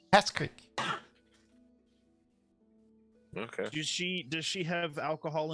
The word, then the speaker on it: Peskryk: Yeah, it would be Pest Creek. Oh, Pest it's Creek. K. Sorry, I thought I heard A. Oh, okay. It'd be Pest Creek. Peskryk.